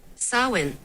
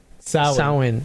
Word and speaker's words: Samhain: So basically before Samhain. Samhain.